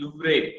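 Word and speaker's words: Louvre: सो ऐसे म्यूजियम्स के नाम याद दिए हैं, जैसे लूव है पेरिस का, it's sometimes it's pronounce as लूवरे।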